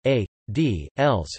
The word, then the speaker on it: aedīlis: Aedile Latin, Aedilus Latin pronunciation, A, D, Els, from Aedes, temple edifice, was an office of the Roman Republic.